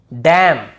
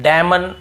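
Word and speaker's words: damn: पे क्या करना है n को नहीं पढ़ना है जैसे ऑटम कॉलम डैम हाइम तो यहां पे हमें ऐसे ऑटम कॉलमन डैमन ऐसे हाइमन ऐसे नहीं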